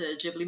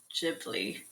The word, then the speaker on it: Ghibli: So I think in Japan they actually pronounce it Ghibli, but they said I remember them saying it's okay to pronounce it Ghibli as well.